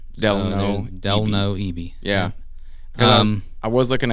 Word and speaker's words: Delno: My name is Delno Ebie. That's like hell no with a D.